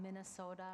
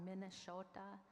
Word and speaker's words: Minnesota: So we talk about Minnesota or Minnesota, that's Dakota. Minne is water, and depending how you say it, Sota or Shota, like cloud on the water or reflection on the water.